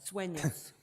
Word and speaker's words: Sueños: Sueños. Sueños, and one of the developments is called Los Sueños, right? Madam Chair, Commissioner Hamilton, that is correct. But the other 4 existing developments are all on Los Sueños Road.